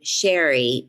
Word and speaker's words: Shari: Now, I pronounced my name Sherry, but it is Shari, so I was on the menu.